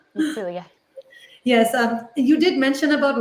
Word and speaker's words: Celia: Am I pronouncing your name right? Celia.